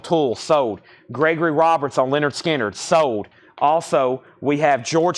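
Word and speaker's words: Lynyrd Skynyrd: 2lp clear vinyl $46.99 Leonard skinnard pronounced Leonard skinnard gatefold $ 36.99 Slayer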